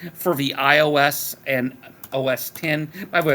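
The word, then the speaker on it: OS X: Ah, released for the iOS and OS 10. By the way, that X is pronounced 10 operating systems.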